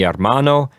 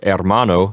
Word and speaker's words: hermano: And then mi hermano means my brother. Remember to keep the H in the word hermano silent.